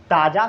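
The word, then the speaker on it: tasar: फिर अब हम लोग बात करते हैं ताज़ा सिल्क के बारे में। ताज़ा, जिसको लिखते तसर है, पढ़ते ताज़ा है।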